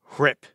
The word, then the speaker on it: RHIP: It's pronounced RIP. The H is silent.